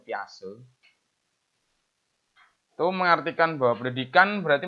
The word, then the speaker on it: Piaget: Ada juga yang dari Mbah Piaget, bukan Piaget ya, bacanya itu Piase.